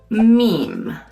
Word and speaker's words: meme: Meme: Pronunciamos meme en español, no en inglés.